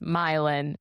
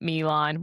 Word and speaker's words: Milin: It's pronounced Milin, not Milan.